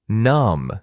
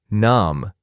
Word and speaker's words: numb: My fingers feel numb sometimes. The letter B is silent in this word numb. Do not say numb. Numb.